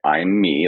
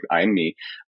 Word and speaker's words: immi: It's uh like I'm me like I am I is how it's spelled but it's it's like I am me like I'm me.